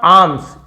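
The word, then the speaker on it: alms: Living on आर्म्स L silent है।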